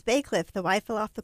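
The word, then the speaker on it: Bacliff: Like, somebody was like, oh, this is how you say Bay Cliff, and spelled it that way, and they forgot the Y.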